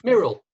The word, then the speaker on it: Muriel: that, and bless her, she has written back to say it rhymes with squirrel, guys. Do you want to have a go, Okay. Steve? Muriel.